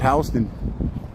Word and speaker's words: Houston: I mean, people in New York know what Soho is, but south of Houston, it's not Houston Street, it's Houston.